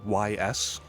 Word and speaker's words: Ys: the Ys series, or YS. It's spelled YS, it's pronounced Ys.